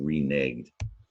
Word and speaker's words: reneged: Yeah, this is the word reneged, and it comes from the root renege.